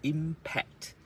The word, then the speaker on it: impact: So the P is a strong one. You should sort of get a feel that it's impact.